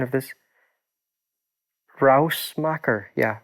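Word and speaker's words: Ruismaker: this into this instance of what's the correct pronunciation of this rouse macker yeah rouse marker it means noise maker in dutch harald smacker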